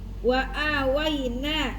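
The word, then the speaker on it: وآويناهما: Wa aa ada hamzah setelahnya ada alif makanya dibaca dua harakat. Wa awaina nun.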